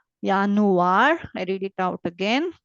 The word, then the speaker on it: Januar: And wherever you have J, it is uni, Yuli, like that. Januar, Yot sound.